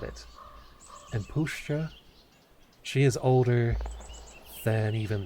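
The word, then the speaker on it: puszcza: Shit, I don't know how to pronounce that. Damn it. Oh, Pushcha? I mean Pushcha.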